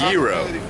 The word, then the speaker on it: gyro: I say it's a gyro no it is it's just that it's um it's uh it's it's Greek that's how they say it in Greece really into that BB